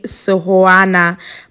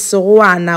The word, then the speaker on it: Sehoana: is leang Sana guys I used to say soana but is Sana when I listened she pronounced it as not she is